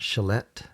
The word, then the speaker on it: chalet: people to enjoy a chalet Chalet Chalet notice that the T at the end of this is silent we don't pronounce the te it's not Chalet it's pronounced Chalet a